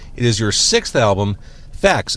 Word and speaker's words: FACS: It is your sixth album, Facts, f a c s. And I I spelled it out. I mean, I know you know how the band's name is spelled, but for people who are listening and not watching, they may think it's f a x. Right. Or they may think I'm saying f a c t s.